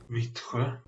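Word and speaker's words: Vittsjö: According to Google, it's pronounced Vitre.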